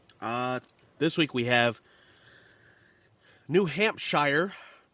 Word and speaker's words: New Hampshire: this week we have New Hampshire New Hampshire no you said it right the first time and New Jersey New